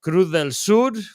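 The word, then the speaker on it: Cruz del Sur: it is on uh if you pronounce it in Spanish it is kudel sud which is Southern Cross and very very very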